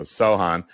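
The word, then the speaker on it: Sochan: so chain or something oh yeah yeah so Sohan um so on so forwards against Dallas since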